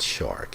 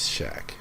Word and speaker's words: Shaq: But his name is not Shark, it is Shaq.